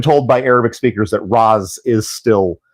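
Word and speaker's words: Ra's: Um, but yes, I have been told by Arabic speakers that Raz is still, which it's not ro, it's ra apostrophe s.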